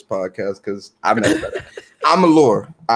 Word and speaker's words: Amalur: It's Alamur. No, say Amalur. Amalur. Amalur. It's spelled it's spelled Alamur. Alamur. No, there is no extra M, boo. It's Amalur. Lore.